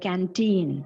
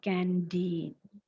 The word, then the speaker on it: canteen: spelling of the word canteen see t t is there c a n t e e n so this letter T represents the sound T right letter T represents